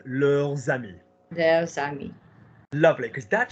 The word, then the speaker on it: leurs amis: Now do the link. Leurs amis. There's amis. Lovely, because that shit's plural friends. Mes amis, tes amis, ses amis, nos amis, vos amis, leurs amis.